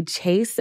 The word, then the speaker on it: Chayse: Today I have with me Chayse, who, first of all, is not spelled the regular way. It's spelled C-H-Y. So close. C-Y? C-H-A-Y-S-E. Shocking.